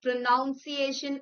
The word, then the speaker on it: pronunciation: P R O N U N C I A T I O N is not pronunciation as we often mispronounce it.